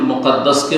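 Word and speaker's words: بيت المقدس: জারফে সেগা মাকদিস বলবেন, কিন্তু বাইতুল মুকাদ্দিস পবিত্রকারী ঘর, না পবিত্রকারী না, ইসিম ফাইল না, ইসিম মফুল মুকাদ্দাস, আর না হইল মাকদিস জারফে মাকান। যারা আরবি গ্রামার বুঝে তাদের জন্য বললাম, দুটো উচ্চারণ ঠিক।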